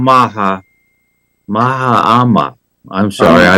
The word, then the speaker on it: Mahama: for inauguration of a new president John drani Maham Maha mahama I'm sorry I mispronounced the name who was having his second